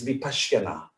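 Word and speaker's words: vipaśyanā: is called the basiana i'm sure you've heard of vipassana right the sanskrit pronunciation is vipasyana that's like scottish english and london english so the buddha spoke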